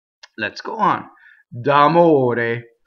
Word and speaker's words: d'amore: So here we have a flipped R, because it's surrounded by vowels. The O and the E are closed. D'amore. Okay? O-A. Here's our purity test. O-A. D'amore. Now, common mistakes in this word I hear. Well, first of all, people roll the R, right? Amore. Wrong, right? Amore. Here's another mistake. I made a double M.